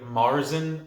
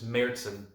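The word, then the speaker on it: Märzen: brewery it's a merzin a lot of people pronounce this beer marzin or martin the actual pronunciation is mertzen and i don't want to be that guy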